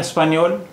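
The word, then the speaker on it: espagnole: अब यहाँ देखिए, स्पैनियोल मैस्कुलिन और फेमिनिन दोनों में ही उच्चारण इसका स्पैनियोल ही है, लेकिन स्पेलिंग में फ़र्क है। देखिए, यहाँ अन स्पैनियोल में एल के बाद कोई शब्द नहीं है, जबकि इन स्पानियोल में एल के बाद ई है, लेकिन उच्चारण दोनों का एक जैसा है।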